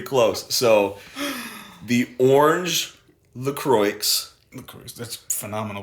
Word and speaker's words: Croix: it's honestly pretty close so the orange the croix that's phenomenal pronunciation thank you thank the the orange it's